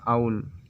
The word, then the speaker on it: owl: अक्सर हमेशा इसे ओल प्रोनाउंस करते हैं, ये गलत है। छोटे में हम लोग भी ऐसे ओल करके प्रोनाउंस किया करते थे, लेकिन ये गलत है। इसे प्रोनाउंस किया जाता है आउल।